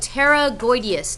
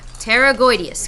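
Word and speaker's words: pterygoideus: the label they're called Terra goodus now it has a p here the p is silent it's like it's not even there okay yeah Terra goodus okay now on the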